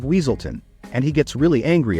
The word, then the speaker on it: Weaselton: funniest moments is when Judy mispronounces his name as wesselton instead of weaselton and he gets really